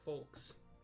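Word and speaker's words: Foulques: Scarcely a bell ago, our old friend Folks, yep, I'm still pronouncing it Folks, F-O-U-L-Q-U-E-S, paid us another visit,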